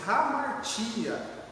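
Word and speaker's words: ἁμαρτία: A palavra pecado no grego, ela pronuncia-se hamartia, que quer dizer sair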